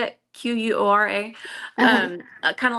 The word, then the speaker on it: Quora: Melody and I wanted to do like a Cura, is that how you say it? Quora.